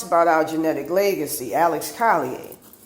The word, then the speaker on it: Collier: our genetic legacy, Alex Collier. I call them Collier instead of Collier because, I'm from Louisiana, and so when you hear IER, you think of yay, which is how it's pronounced in French.